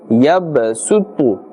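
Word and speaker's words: يَبْسُطُ: So here there's a Sad, but as we mentioned, the rule is, in this case, we must pronounce the Seen. Yabsutu.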